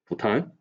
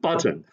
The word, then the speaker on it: Bhutan: which is nepal and bhutan you know these two countries and he pronounced these two countries as nipple and button you know who is